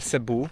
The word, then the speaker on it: Cebu: Pisze się to przez C, ale czyta się Cebu chyba, więc zamiast Ceba to jest Cebu.